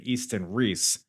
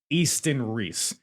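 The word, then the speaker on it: Iestyn Rees: Easton Reese. By the way, that's spelled Iestyn. Reese spelled Rees, which none of this feels right.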